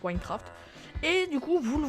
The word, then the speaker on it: Wynncraft: à la province de Wine, le cerveau se prononce Winecraft, et du coup vous le voyez pas, mais